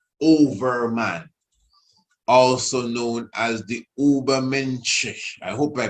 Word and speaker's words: Übermensch: But Übermensch, German pronunciation, what he says here.